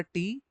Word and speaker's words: T: Next होता है हमारा टी। टी को हमेशा हमको बोलना पड़ता है टे। क्या बोलेंगे टी को आप हमेशा? टे।